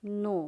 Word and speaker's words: know: तो के का मतलब क्या है, KNOW, नो, क्या हुआ, नो, KNOW, नो।